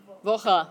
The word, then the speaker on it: Woche: Woche. Don't forget the E at the end.